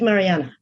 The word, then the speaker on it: Marianne: norwegian woman named marianna always mariana even leonard never called her anything but mariana which is the norwegian pronunciation she sits down and